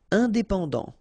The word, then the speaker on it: indépendant: Indépendant. Final T not pronounced.